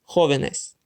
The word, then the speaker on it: jóvenes: It becomes jóvenes. The word now ends with an S, which means it's still the second to last syllable which should be emphasized. However, now there are three syllables, so the second to last is actually not the one we emphasized. Therefore, there must be an accent mark over the O, since that's the syllable we emphasize.